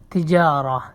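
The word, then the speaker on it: تجارة: তিজারা ব্যবসা তিজারা ব্যবসা এখানে যে আলিফ আছে একটু লম্বা করে বলতে লম্বা করে তিজারা তিজারা ব্যবসা তিজারা ব্যবসা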